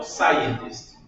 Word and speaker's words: scientist: Not a brilliant is O S é mudo. Então, scientist. scientist.